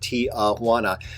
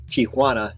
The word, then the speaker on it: Tijuana: I apologize in advance I know it's it's pronounced Tijuana I think even when I was making this video I knew it was pronounced Tijuana not Tana but learning a language is hard actually this